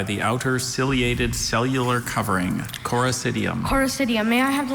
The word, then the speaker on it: Coracidium: Coracidium.